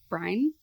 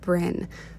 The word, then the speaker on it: Bryn: Last December, Brian, I cannot pronounce her name. I'm sorry if you ever find this video. I suck at pronouncing names. It is pronounced Bryn, so I'm sorry that this is cringy this entire time.